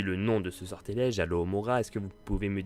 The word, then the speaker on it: Alohomora: Donc, Alors, c'est Alohomora. Je vais vous dire comment ça s'écrit. A-L-O-H-O-M-O-R-A.